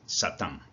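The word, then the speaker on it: שָׂטָן: Y la palabra enemigo o adversario en hebreo se escribe de esta manera y se pronuncia así, Satán.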